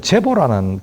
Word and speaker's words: 제보: 자가 제보, 문헌에 보면 제보라는 글자로, 근데 이걸 애비 부자인데, 이름자에 쓸 때는 보라고 발음을 합니다.